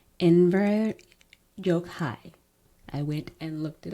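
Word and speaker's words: Enver Gjokaj: not go and double check how to actually pronounce it. So, it's Inver Yokhai. I went and looked it up, found out how he pronounced it. in ver Yokai.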